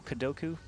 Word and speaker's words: KuDoKu: fight against the powerful GA.KuDoKu. The powerful. We're already terming him. He's powerful because his name rhymes with Goku. That's GA.KuDoKu.